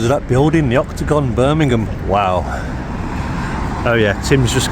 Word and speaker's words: Birmingham: How do I say it properly? With the really thick accent, you've got to do it, sure. Birmingham.